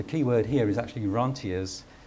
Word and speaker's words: rentiers: word here is actually ranas you could pronoun I don't know why they pronounce it in French still but um rentiers is just as good same thing and